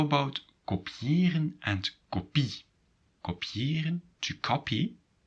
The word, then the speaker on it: kopiëren: So, how about kopiëren and kopie?